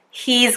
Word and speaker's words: he's: So I'm gonna go, you're gonna go, we're gonna go, they're gonna go, he's gonna go, she's gonna go. Listen there to my pronunciation of he and she.